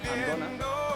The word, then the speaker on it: gonna: No, I'm going to, pero se pronuncia I'm gonna.